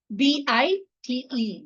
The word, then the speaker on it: bite: So that is why it is pronounced it as I.